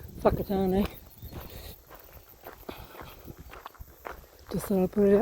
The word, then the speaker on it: Whakatane: So any words that start with WH is pronounced F. So hence Whakatane.